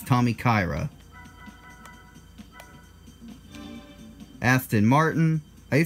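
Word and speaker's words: Tommykaira: guys here Tommy Kyra I say it was Tommy Chiara until I saw that a came before the I I never called it Tommy Chiara in the previous videos but growing up that's what I said that's Tommy Kyra Aston Martin I say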